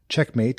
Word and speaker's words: checkm8: Checkmate, and it's spelled CHECKM8, the number 8.